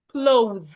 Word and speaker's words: clothe: There's a difference between cloth and clothe. Cloth is C-L-O-T-H. Clothe is C-L-O-T-H-E. The end spelled the same way.